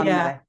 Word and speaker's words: Hannele: Something more Yeah, like more emphasis on the beginning of it. Yeah. yeah. You put the emphasis on the first syllable. So Yeah. Hannele.